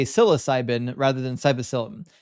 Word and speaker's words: psilocybin: Psilocybin, not psyllin.